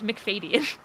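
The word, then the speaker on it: Macfadyen: i have discovered that i've been pronouncing the man who played mr jars in the 2005 prime prejudice last name wrong for years i just said like mcfadden like that it's mcfadyen oh whoops or mcfaddy it's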